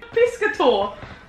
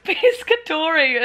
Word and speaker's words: pescatore: Pescator. It's pescatore, if anything. But he's not silent.